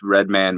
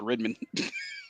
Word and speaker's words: Redman: got mary j blige redman method man hey the rhymes i just stick to the old schools some people pronounce it redmond oh god i would